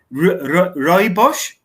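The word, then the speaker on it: Rooibos: is actually uh i i don't know the pronunciation to be honest but it's uh roy bosch is that the correct yes yeah it's a red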